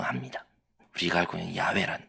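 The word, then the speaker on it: 야훼: 조합을 해서 아 아마도 여호와의 거야 뭐 영어에서는 제호와이 거야라고 말합니다 그런데 정작 유대인들이 그리고 유대인들 본인들의 보기에는이 이름의 가장 금적 발음은 다름 아니라 야외입니다 야외 왜 그럴까요 왜냐면 그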